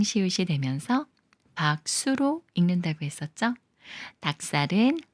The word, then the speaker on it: 닭살: 되면서 박수로 읽는다고 했었죠 닭살은 박에 로 닭이 꾸며 주는 말이고 리을 기억 받침 중에 리은 생각 말고 기억과 시옷이 만나는 거라서 시 옷을 쌍시옷 소리로 읽어요 닭살 닭살 기억 받침이 지을 만나면